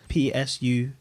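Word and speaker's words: ψυχή: Pronounce that word for me in the Greek. G5590, Greek word in English, Psuche.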